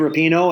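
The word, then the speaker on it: Rapinoe: so yeah uh megan repino and now i'm saying her name right i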